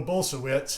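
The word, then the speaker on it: Bulsiewicz: exam room but it was with dr will bolsevitz bolsowitz actually i heard the host say that his name so i'm learning how to say it dr will bolsoewitz who is the author of fiber fuel that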